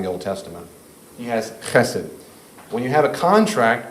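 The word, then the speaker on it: חסד: the Old Testament, and it's pronounced chesed. Chesed.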